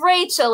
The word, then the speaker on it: Rachil: you i'm good it's rachel it's pronounced like a first name but it's spelled like a last name i know wow i